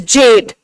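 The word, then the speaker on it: Gjedde: G is silent here and it is Jade. Okay? So under Admiral O. Jade, he was the one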